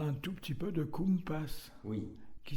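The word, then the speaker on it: compàs: Donc, Sébastien Kogan, on parle un tout petit peu de Kumpas, Oui, qui s'écrit Kumpas. qui s'écrit, oui, comme un compas, en fait. C-O-M-P-A-S, avec un accent sur le A, qui veut dire en occitan le tempo.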